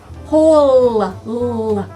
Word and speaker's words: hole: Hole. There's that L. Straight line down. And there's a silent letter at the end. What's that silent letter? E.